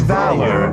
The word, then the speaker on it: Valor: know what in fact i checked the pronunciation of that earlier today it's just valor v-a-l-o-r so as i walk